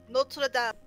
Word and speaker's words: Notre Dame: Well, actually, that's how it's pronounced, Golden. Notre Dame.